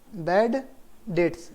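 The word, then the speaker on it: debt: बोलते हैं के बेडे इट्स डेट्स डीबीटी इस बीच साइलेंट हो गया डाट इन ए बर्ड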